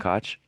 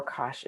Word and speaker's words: Koch: those names lister and koch yes um absolutely right bassey samuel vice pastor lister and ko or kosh is uh the two ways that that's usually pronounced do you happen to